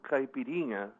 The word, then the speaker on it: caipirinha: okay yeah you know you know it's called caipirinha okay capito capito means country bumpkin so caipirinha